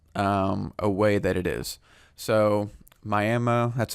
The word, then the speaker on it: Miami: So Miami, that's how you pronounce it.